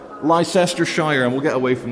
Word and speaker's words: Leicestershire: Which uh the Americans should pronounce as Leicestershire. Leicestershire.